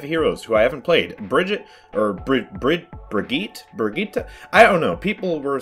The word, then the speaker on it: Brigitte: Brigitte? I don't know. People were telling me all sorts of different ways to pronounce this hero's name. Brigitte? Whatever it is, it's supposed to be not Bridget, which I don't understand